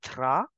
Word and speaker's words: drap: Bedsheet as le drap. Bedsheet as le drap. P in the end is for decoration.